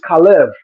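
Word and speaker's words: חֵלֶב: the same word because in Hebrew fat is khalev and milk is kalav only difference is vowel shifting and pronunciation but Allah they're going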